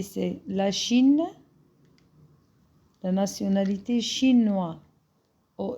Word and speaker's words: chinoise: Parce qu'ici, pardon, le S entre deux voyelles, je le prononce Z.